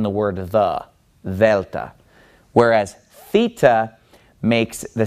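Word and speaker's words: θήτα: In math, you called this theta using an American pronunciation. But this letter in Greek is the letter theta, and it makes a th sound.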